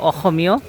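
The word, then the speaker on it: অসমীয়া: হলো একটা হলো অসমীয় আমরা লেখার সময় দেখা যায় অসমীয় লেখা হয় কিন্তু তো ওরা উচ্চারণ করে অহমিয় বা অহমিয় অহমিয়া বা আসাম আসামিয়া এটা ভাষা এটা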